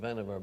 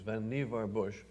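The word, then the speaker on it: Vannevar Bush: canonical article by van nevar bush most people pronounce it vaniver but it was vanivar bush as we may think which ran first in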